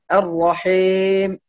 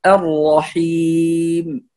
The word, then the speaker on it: الرحيم: والملاحظة الثانية في كلمة الرحيم إتمام الكسر في الميم، فلا نقول الرحيم الرحيم الرحيم، هذا بعضهم يختلس كسرة الياء ويأتي إلى الميم كأنها إمالة أو تقليل أو من هذا. فالصحيح نقول الرحيم الرحيم، هذا النطق الصحيح والملاحظة الصحيحة لكلمة الرحيم.